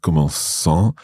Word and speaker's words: commençant: Yeah, it's we have what we call the cedilla, the C with a little squiggly thing underneath.